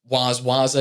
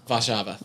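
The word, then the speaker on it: Warszawa: Songs like Waza, is that how you pronounce it? And then Vava. Vasha. There we go.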